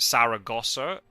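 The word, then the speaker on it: Zaragoza: discovered that is the it makes sense that's the English pronunciation but it's also the spelling is different because in Spanish it's with a zed um I think cuz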